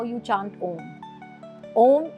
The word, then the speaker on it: Aum: Om is a union of three syllables. So it's Aum.